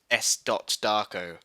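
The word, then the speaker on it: S. Darko: so I call it s darco according to Wikipedia though it's officially it's officially pronounced s dot Darko because there's a film there's a there's a full stop after the S um for this [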